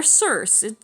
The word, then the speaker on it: Circe: Now it's Cersei. She's actually pretty good. Or Circe. I guess either one, but, you know, I'm going by the Game of Thrones pronunciation here.